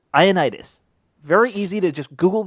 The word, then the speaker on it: Ioannidis: Matt Ioannidis, not Ioannidis. Iodinus. Yeah. I think that's his favorite way to go. It's Ioannidis.